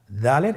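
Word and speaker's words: دال: উচ্চারণ করার সময় অবশ্যই 3 আলিফ টেনে পড়তে হবে।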